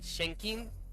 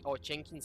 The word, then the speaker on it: Chenxing: Um, I'm just going to be calling her as I believe that it is pronounced, that it's going to be like Chenxing.